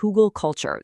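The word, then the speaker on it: Hügelkultur: It's pronounced hugelkultur.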